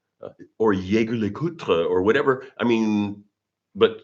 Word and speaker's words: Jaeger-LeCoultre: My literally my last name is the same phonetics as LeCoultre cuz is but you don't pronounce the r e. So, the fact that my name is pronounced the same as LeCoultre and I'm being accused